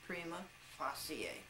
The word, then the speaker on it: prima facie: After several years of Latin, I believe that that's correctly pronounced prima facie.